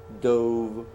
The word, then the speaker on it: dove: tense of dive, dove, so it's pronounced 2 ways. As a verb, you say dive, dove. So that's how you say dove. But you can also pronounce this dove. And dove is what? The noun, it's a kind of bird. Okay? Dove. Dove is it's the same word, same spelling, same everything. You just pronounce it differently.